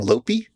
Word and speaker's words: Lope: The local boy's name is Lope, which he insists on pronouncing Lopi.